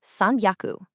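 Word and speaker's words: さんびゃく: 100 is haku, so 300 is what? Take a guess. It's sanyaku. Did you notice that the sound in haku shifts heavily to a b soundy?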